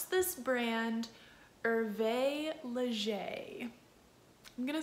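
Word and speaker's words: Hervé Léger: you pronounce this brand irvae leger i'm gonna say it one more time irvae leger it is not pronounced herb ledger it is not pronounced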